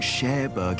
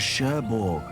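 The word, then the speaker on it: Cherbourg: Jack's family in cherborg the place he came from wasn't sherberg it was cherborg can you hear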